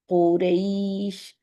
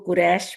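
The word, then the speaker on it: قريش: उर्दू में हम इसको कुरैश बोलते हैं ना तो ये कुरैश नहीं कुरैश ठीक है रई क्योंकि ये हम अरबी में इसको लीन करके अदा करते हैं अमूमन उर्दू की वजह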